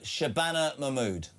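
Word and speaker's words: Shabana Mahmood: Uh Shabbana Mammud. Shabana Mammud.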